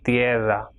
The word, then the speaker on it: tierra: Same way, I and E will be pronounced as tierra.